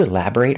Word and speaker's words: elaborate: We don't say elaborate about. We say on. Could you elaborate on that? If I use this word as an adjective, the pronunciation changes. If it's not a verb, it's elaborate. Making a short sound.